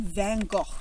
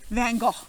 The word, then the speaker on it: Van Gogh: If you're Australian, it'd be like Van Gogh. It's like some rhymes with mango. Mango and Van Gogh.